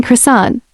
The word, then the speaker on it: croissant: Two things I usually associate with passive aggressive in-laws and people who pronounce the T in croissant.